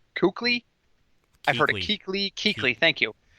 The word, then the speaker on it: Kuechly: I've heard it Kuechly.